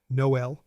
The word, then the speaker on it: Noël: The tréma has two dots above a vowel. It tells you to pronounce vowel sounds separately. Noël naïf héroïne Think of the tréma as a small pronunciation signal. Slow down. Separate the sounds.